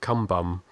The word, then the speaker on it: Cumbum: and we went through a town called Kumbum, and which is spelled Cumbum, and it was Kumbum.